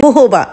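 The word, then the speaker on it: jojoba: वैसे इसकी सही प्रोनाउंसिएशन है जोजोबा ऑयल। हम यहाँ पर कभी कभी जोजोबा ऑयल भी कह देते हैं, लेकिन इसकी सही प्रोनाउंसिएशन होती है जोजोबा ऑयल।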